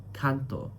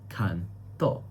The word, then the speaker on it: canto: And that makes the word different from canto which is song as well where the stress syllable is can. canto canto.